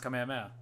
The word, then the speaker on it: Kamehameha: I understand I understand Kamehameha sounds dumb because it's a Hawaiian it's a Hawaiian name uh it's based off a Hawaiian word of some sort so that's why it's pronounced Kamehameha um I I don't know